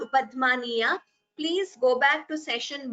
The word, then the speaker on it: upadhmaniya: So upadhmaniya is you expel the air and close your lips immediately.